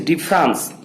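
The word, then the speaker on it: différance: Its name is difference and the spelling is D-I-F-F-E-R-A-N-C-E, difference.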